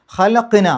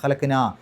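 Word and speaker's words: خَلَقْنَا: ഖലഖ്, ഖ് എന്നുള്ള ശബ്ദം പുറത്തേക്ക് കേൾക്കണം. ഖലഖ്നൽ ഇൻസാന, അവിടെ നോക്കൂ, ഖലഖ്ന എന്ന് ശരിക്കും അവിടെ 2 ഹർക്കത്തിൻ്റെ ദൈർഘ്യം നീട്ടാനുണ്ട്, ഖലഖ്ന.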